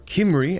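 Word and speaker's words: Cymru: Anyway, here we have Wales, or Kimry, as I've been informed, it should be pronounced.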